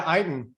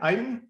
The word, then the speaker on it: Eytan: hey, I just want to say hi to Eytan. Is that how you say it? Eytan?